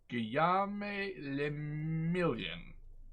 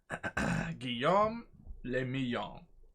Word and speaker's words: Guillaume le Million: Guillaume le Million. Le Million. If it doesn't rhyme, you're not pronouncing it right.